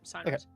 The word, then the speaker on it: Cyrus: I believe that's how it's pronounced. Yep, Cyrus.